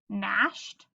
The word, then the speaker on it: gnashed: GN says ashed, nashed.